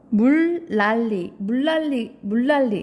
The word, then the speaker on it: 물난리: 발음하면 어떻게 되죠? 물난리.